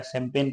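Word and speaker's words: champagne: हैं कि बताओ कैंपेन कैसे लिखा जाता है शैंपेन कैसे लिखा जाता है कलेन कलेन मीस होता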